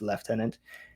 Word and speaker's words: lieutenant: Uh it's spelled lieutenant, but it's pronounced left tenant.